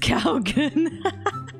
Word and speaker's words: Kougaon: thing from that video is his name is pronounced Kougaon. Oh my god. You didn't know? How did you used to say it? With his name, I wonder all the types of ways people have said it. Kougaon.